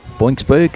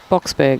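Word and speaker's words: Boksburg: Boxberg. Boxberg? Yeah. There's no N in there. How did you get boinks? Oh, I don't know. Box, as in Springboks.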